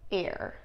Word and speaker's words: heir: Now let's practice this together in a sentence and remember that the H's are going to be silent. Okay, read with me now. In all honesty, Your Honor, you are not the rightful heir to the throne.